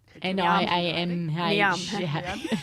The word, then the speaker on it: Niamh: But that's how you spell it here, though, as well. Like Sinead. Yeah. Then I'm next. Then Neve. Niamh.